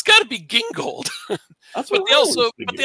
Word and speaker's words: Gingold: did but yeah by the way does I pronounce it gingold and when they put it on The Flash TV show they called it Jing gold that doesn't make any sense because it's the